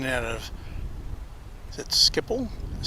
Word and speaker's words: Schiphol: Hugo says there's a similar experience when you're going in and out of, is it Schiphol, is how they pronounce it, airport.